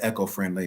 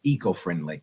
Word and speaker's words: eco-friendly: to have you um I said echo-friendly maybe it's the the proper pronunciation is eco-friendly e yeah you say tomato